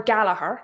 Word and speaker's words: Gallagher: So, so let me pull up Connor Gallagher because that's how you pronounce that name because in Irish the gh makes a h sound.